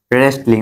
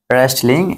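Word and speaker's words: wrestling: যে রেস্টলিং বলি না, রেস্টলিং, এখানে ডব্লিউ বাদ, কারণ ডব্লিউ আর প্রথমে থাকলে কি ডব্লিউ উচ্চারিত হবে না, ঠিক আছে? রেস্টলিং, মনে রাখবে, শব্দের প্রথমে ডব্লিউ থাকলে ডব্লিউ উচ্চারণ হবে না, ঠিক আছে?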